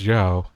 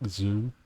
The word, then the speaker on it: Zhao: It's Zhao, isn't it? not like Zhu, it's Zhao.